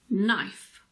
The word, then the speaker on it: knife: one is quite easy K is silent before the letter N at the beginning of a word word for example knee knife night not no let's look